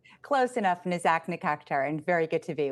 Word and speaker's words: Nazak Nikakhtar: former Undersecretary of Commerce and International Trade Attorney Nazak Nikakhtar. Boy, I hope I got that right. Please state your name so I can pronounce it correctly. Close enough, Nazak Nikakhtar, and very good to be with you.